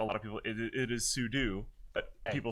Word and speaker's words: sudo: A lot of people say sudo, but I for Sudafed? it's with the like a lot of people. It is sudo, but people say sudo.